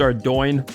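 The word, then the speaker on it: Ardougne: back to our Dome I know it's pronounced our doyne I've heard that before but to me it's always going to be our down gonna have to deal with it so here we go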